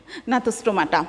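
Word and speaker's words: Gnathostomata: তারপরটা আছে অধিশ্রেণী ন্যাথোস্টোমাটা। এখানে যেহেতু আগে জি আছে, কিন্তু জি এর উচ্চারণটা হবে না, শুধুমাত্র ন্যাথোস্টোমাটাই হয়তো হবে।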